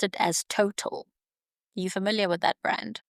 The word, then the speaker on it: Total: We are of French origin and we're not pronounced as Total. We are Total.